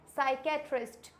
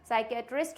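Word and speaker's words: psychiatrist: next क्या आता है साइकेट्रिस्ट इसमें भी क्या है पी साइलेंट नेक्स्ट क्या है साइको थेरेपी साइकोथेरेपी में भी पी साइलेंट है साइकेट्रिस्ट में भी पी साइलेंट है साइकोलॉजी में भी पी साइलेंट है क्योंकि इसमें क्या है एसे जस्ट पहले है इसलिए यह पी साइलेंट है आई होप आप लोगों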